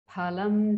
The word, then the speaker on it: phalam: Karmajam buddhi yukta hi phalam tyaktva manishinaha janma bandha vinirmuktaha padam gacchantya-namayam. Karmajam buddhi yukta hi phalam. There is actually no fa in Sanskrit. So the fa is pronounced as ph.